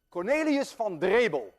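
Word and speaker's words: Cornelis Drebbel: Cornelius van Drebel, and I know how to pronounce that name because I'm Dutch.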